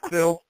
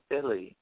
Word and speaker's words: Phylle: Well, it's actually pronounced Philly, like the city. But Okay. a lot of people call me Phil because it's phonetically, it looks like it's spelled that way.